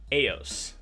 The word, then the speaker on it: Eos: bet you didn't know no EOS is actually pronounced AOS who is AOS you ask well AOS and